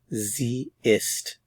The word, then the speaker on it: sie ist: is she is zist notice it's Z with a lowercase s remember that the Z with a capital s means U formal so this is the Z that means she they're pronounced the same so context will tell